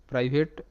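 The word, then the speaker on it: private: শব্দের শেষে ই সাইলেন্ট কেন এখানে আই আই হিসেবে উচ্চারিত সেটাও বুঝে নাও তো এখানে কিন্তু আই এর পর একটা কনসোনেন্ট এবং তারপর একটা ভাওয়েল আছে তার মানে আই এখানে আই হিসেবে উচ্চারিত হবে কিংবা মনে করতে পারো ভি সিবি রুল আই হলো ভাওয়েল অর্থাৎ ভি এ হলো ভি হলো কনসোনেন্ট তার মানে সি পরে এ হলো ভাওয়েল অর্থাৎ ভি ভি সিবি রুল তাই কিন্তু আই আই হিসেবে উচ্চারিত প্রাইভেট এরকম করে পরবর্তী শব্দ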